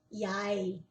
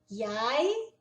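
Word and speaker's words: jeg: Ele se escreve J E G, mas se pronuncia exatamente assim. Yai. Yai, eu du Você lembra que o Ue é com um biquinho assim?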